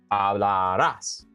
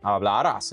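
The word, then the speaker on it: hablas: Ablas is we're going to stress that last syllable right there. We do not want to say ablas. Okay, ablas is not going to be the correct pronunciation right there.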